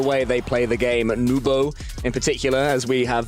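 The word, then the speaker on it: Nwpo: Nubo, in particular, as we have very much established. We fancy having a crowd of people chanting, it's pronounced Nubo, fair enough, Nubo it is.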